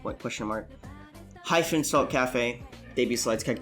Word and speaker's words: Kafe: their success obviously bio you can call me cafe with a I or without one that's how you spell it k-a-f-e hype that's on a need to